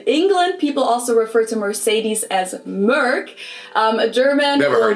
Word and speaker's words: Mercedes: So most Americans call this Mercedes. In German, Mercedes we pronounce Benz.